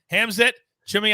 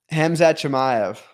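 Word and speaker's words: Khamzat Chimaev: fight this dude and then he got coveted hamzet jimmy i i always say his name for me i always butcher it hamza chimayo thank you now he's a beast but we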